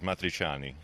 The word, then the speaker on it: Matriciani: And I'm also here with Matricini, and tell us how you really pronounce your last name. It's the actual pronunciation, is Matriciani.